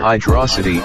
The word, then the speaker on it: Hydrocity: like And subscribe everybody location with friggin water hydrocity is hydrocity is not f word must bear